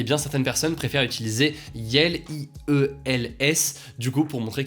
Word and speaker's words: iel: Le pronom personnel neutre yel, qui est donc le mélange de il et de elle et qui s'écrit IEL, a fait son entrée